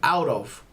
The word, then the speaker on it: out of: And also a good pronunciation in this case, we could say out of, right? Out of. It's not really pronouncing the T too much. We can say he's out of town, right?